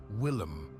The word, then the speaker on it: William: Finally, he defeated the unlucky Charles with the aid of William, which the curé pronounced Willem, the Conqueror, which is why so many English still come to visit the place.